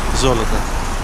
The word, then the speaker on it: Золото: Золото. Gold. So the first O, because it's stressed, it's pronounced as O.